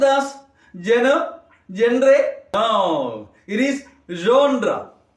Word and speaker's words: genre: Just listen how that first sound is being pronounced. See, take for example, Shas and Shu. How do you pronounce that? Using the tip of your tongue. Shas and Shu. Whereas, ja as in vision, measure, pleasure, genre.